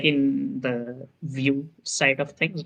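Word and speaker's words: Vue: like that right but it's actually the french word for view so the like the creator intends it to be pronounced view and things like that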